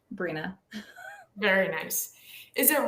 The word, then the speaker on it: Brena: close uh brina so my name is pronounced brina very nice is it